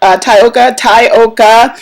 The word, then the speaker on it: Tyoka: I'm going to put it out there again, Tokatha, and it's 3 syllables for Tyoka, and it's names that you'll never ever forget, so there you have it.